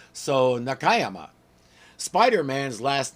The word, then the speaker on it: Nakayama: this and pronounce it Nakayama but four syllable words like this put the accent on the second syllable not the third so Nakayama Spider-Man's last name is